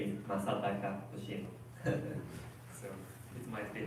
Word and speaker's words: Masataka: My name is Masataka Hoshino. So it might be hard to pronounce it. Even Japanese, it's kind of hard to say Masataka. 4 A sound.